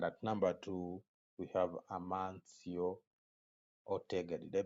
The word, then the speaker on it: Amancio Ortega: Manchester United and at number two we have amancio ortegrity their pronounce that race is amancio Ortega Ortega now Ortega is a clothing magnet having